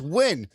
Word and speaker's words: Wynn: I'm like, "It's Wynn." And I spell it, "w y n n."